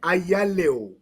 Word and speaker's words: Ayalew: As you read it, Ayalew.